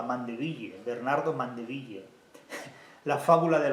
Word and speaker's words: Mandeville: abejas de de Bernardo mandeville no pronunciado así a la española mandeville Bernardo mandeville la fábula